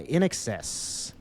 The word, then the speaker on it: INXS: Number 2 is Need You Tonight by In Excess, a band that I remember hearing referred to at a county fair as INXS. It's spelled out like that.